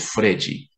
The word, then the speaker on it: Fred: is they Fred nakasio I think Portuguese and Brazil they'll pronounce it fregy right Fred nacasio is